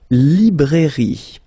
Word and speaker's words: librairie: Then, la librairie. Okay, remember, I here, librairie. Final not pronounced.